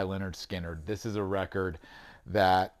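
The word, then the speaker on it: Lynyrd Skynyrd: set the stage and that is pronounced by leonard skinner this is a record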